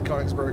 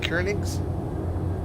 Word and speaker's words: Königsberg: Königs? It's a long O because it's got an umlaut.